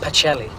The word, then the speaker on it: Pacelli: october the 9th right 950 what hey what was his name again eugenio pikelli p-a-c-e-l-l-i i think that's pronounced pachelli it's italian you're giving him a